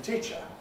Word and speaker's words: teacher: Because it's followed by ch, it's subject to Pre-Fortis Clipping, as indeed the simple verb teach is. But because it's got an unstressed syllable after it, it's also subject to rhythmic clipping. So both of these accumulate together, they have a double effect, and the result is that the E in teacher is really not very long in duration at all.